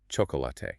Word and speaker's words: chocolate: A learner sees four distinct written syllables. C H O C O L A T E. Chocolate. But a native speaker crushes it into two sounds.